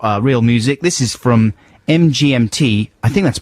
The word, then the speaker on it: MGMT: MGMT, apparently it is MGMT rather than Management or The Management, and they're from America.